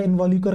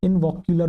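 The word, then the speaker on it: involucre: इनवॉल्यूकर का मतलब क्या है? मैंने दो-तीन बार नोटिस करा। मैं एक्चुअली प्रोनाउंस इसे सही से नहीं कर पा रहा। इनवॉक्युर। वोकुलर कर रहा हूं। नहीं बेटा इनवॉल्यूकर।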